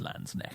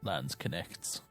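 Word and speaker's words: Landsknecht: heard enough alright it's it's LANs neck it's not Lance connects he nailed the health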